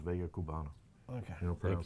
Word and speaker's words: Vega Cubana: Vegas Cubanas? No, it's Vega Cubana.